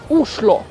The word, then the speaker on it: Oslo: king so the name oslo was restored which sometimes pronounced as uslo globally famous city